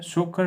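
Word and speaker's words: Tso Kar: सो अब नाम तो ये तसोकर, पर ये साइलेंट है। सोकर wetland S 42nd Ramsar site, तो ये कहाँ पे है?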